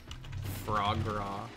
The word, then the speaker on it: foie gras: Frog gras? Yeah, that's how you say it. Although, how you spell it's a completely different thing. I think they actually have that as a word in here, foie gras.